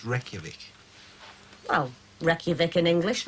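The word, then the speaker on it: Reykjavík: the capital of iceland reykjavik nearly that's right rake jarvik reykjavik it's pronounced reykjavik well reykjavik in english reg jarvik and icelandic right reykjavik murray it's pronounced reykjavik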